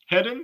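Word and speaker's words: Hedden: by Rob heed heeden how you say his name hen heden yeah like heading on down the highway the only thing I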